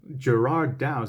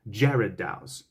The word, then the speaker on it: Gerard Dou: from jared daus so it's almost like the name jared instead of gerrard so there you go and you know i had i had to find that out and i'm just like gerard douse it it throws off